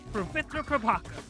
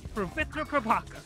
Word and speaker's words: Pavitr Prabhakar: do is copy or try to tap your tongue against the ridge of your mouth and say his name the way that he does. My name is Pravitra Prabhakar. Pravitra Prabhakar. Pravitra Prabhakar.